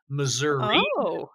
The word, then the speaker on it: Missouri: might meet four people that say at missouri missouri misery uh but the way that i pronounce it is is missouri and so it